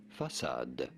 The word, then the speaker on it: façade: It's a soft C. Facade.